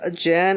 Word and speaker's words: Jan: See, Jan, I thought legit it was Jean. It's just the voice was mispronouncing the name Yeah. or something like that. And it's like, oh, it's actually Jan.